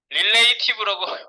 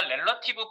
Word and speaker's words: relative: 너무 좋아하는 거 같아 릴레이션 관계가 있는 거 릴레이티브라고 발음하시는 분 정말 많은데 아니에요 그래서 뭐 어쨌든 뭐 릴레이티브라고 하든 뭐 이거 잘 아시면 돼요 2번 타이틀 바꿉니다 2번 자 우리 레너티브 포지션을 주기 위해서 여기다가 렐러티브 포지션을 가지는 애를 섞어 보겠습니다 아까 html로 가세요